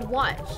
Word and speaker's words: Wachi: Wachi is pronounced watch. It's weird.